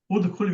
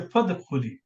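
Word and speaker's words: فادخلي: So we don't say udkhuli, we say fadkhuli. Hamzat wasl will be written but not pronounced.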